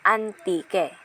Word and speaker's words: Antique: influenced by the French recorded the region's name as hanti which was then read as Antique silent age locals then pronounce the name into its present name Antique so ang Antique ay